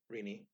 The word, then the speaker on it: Renee: I shall explain so as I said before irini yeah which is short for Christina which is why it's pronounced Rini despite looking like a baby spelled rainy when